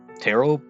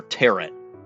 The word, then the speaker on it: tarot: mostly sold tarot cards tarot yeah I think that's tarot or teret I think the I think the second I was going to say I think the second T is silent tarot cards yeah I